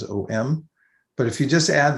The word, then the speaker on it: om: add that you know it's spelled normally om it's actually a um but because of the sunday rules in sanskrit the way that you um blend syllables together it comes out as om but if you just